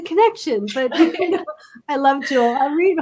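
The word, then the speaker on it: Auret: Orit is actually a very popular name in Israel. So it's an Israeli name. And it's usually spelled O-R-I-T. And my parents just wanted to do something different and spell it A-U-R-E-T. A lot of people think it's French, like or something.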